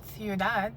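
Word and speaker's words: ciudad: example in the word thead which is City happens nothing they create a Dongo you pronounce them both shortly it's not thead it's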